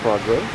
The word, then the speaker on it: Progrès: This is a 1998 Toyota Progrès, which is Progress is the way it's spelled, but because it's French, it's pronounced Progrès.